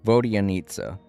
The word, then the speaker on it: Vodyanitsa: That's her name, Vodyanitsa. You know, a good way to remember her name and how it's pronounced is that it has the word Vodia in it, which is a